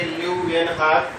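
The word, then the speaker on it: Leeuwenhoek: Okay, तो दूसरा आप देखिए ल्यूवेनहॉक, प्रोनाउंस ये कैसे करेंगे, ल्यूवेनहॉक 1674 found the presence of living cell in the pond water.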